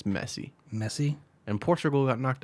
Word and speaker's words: Messi: I've been saying Messi. It's Messi.